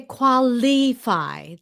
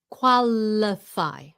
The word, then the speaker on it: qualify: Do not say qualifi. It's not e, it's qualify.